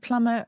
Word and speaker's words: plumber: is extraordinary same plumber why doesn't plumber rhyme with lumber uh that goes back